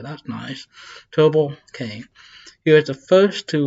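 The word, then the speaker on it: Tubal-cain: Oh, actually, separate it, tell you how to pronounce it. That's nice. Tubal Cain.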